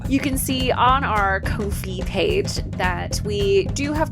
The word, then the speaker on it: Ko-fi: You can donate or subscribe through our new Ko-fi, where you can buy us a coffee.